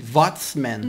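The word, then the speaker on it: Watzmann: didn't know that and the W pronounced like a V vman like the way you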